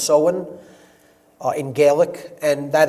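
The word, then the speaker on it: Samhain: in the mid midpoint of fall is soen pronounced soen it looks like Sam Hayne in English but it's pronounced soen uh in gaic and that is Halloween or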